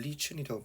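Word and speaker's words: lichen: 박테리아와 결합하고 라이컨과 결합하고 라이컨이라고 발음하기도 하고 영국에서는 리춘이라고 발음하기도 해요. 그래서 라이컨, 리춘 다 됩니다.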